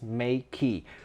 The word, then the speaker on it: Meike: they confirmed to me the correct way to pronounce the brand name is Meike.